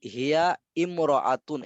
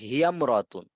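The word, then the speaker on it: هي امرأة: যেমন দেখেন হিয়া ইমরাআতুন এমন হওয়ার কথা ছিল না, হিয়া ইমরাআতুন, কিন্তু এটা হবে হিয়ামরাতুন।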